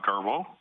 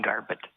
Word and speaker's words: Garbett: got dr uh garbo please just state your name and you'll get 10 minutes for presentation thank you yeah um you got my name wrong garbett i'm here as a